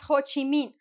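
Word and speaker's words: Ho Chi Minh: When I was in high school, I was Ho Chi Min. Because in history class, you have to like pick a character and here and there. And I was ho and I pronounce the H, right?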